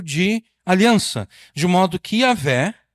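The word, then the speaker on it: Yahweh: Testemunhas de Jeová, elas não gostam muito de Yahvé, elas preferem Jeová. O problema é que Jeová jamais poderia ser a pronúncia do nome de Deus. A pronúncia é Yahvé.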